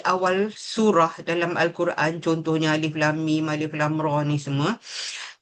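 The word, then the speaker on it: الم: surah dalam al-Quran contohnya alif lam mim alif lam Ra ni semua dia daripada huruf hijaiah. Cara baca dia kita kena sebut nama huruf tu sendiri.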